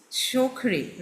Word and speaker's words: Suokhrie: Shokri, right? Yes. Spelling is different and pronunciation is little different.